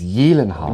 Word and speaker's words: Gyllenhaal: name wrong. It's Gyllenhaal.